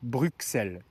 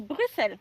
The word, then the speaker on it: Bruxelles: Nous on dit Bruxelles. Et oui mais non parce qu'il y a un X. Oui, mais Oui, mais le le X ne se prononce pas, on dit Bruxelles. Donc, tu viens de Bruxelles ?